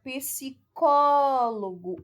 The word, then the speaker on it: psicólogo: Psicólogo. O có é a sílaba tônica, a terceira sílaba de trás para frente. Ou seja, é uma palavra proparoxítona, ok?